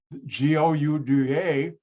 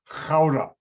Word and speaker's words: Gouda: for their cheese but the dutch pronounce a g as a hard ch not like americans now because i know hebrew and i can pronounce a hard ch g-o-u-d-a in the netherlands is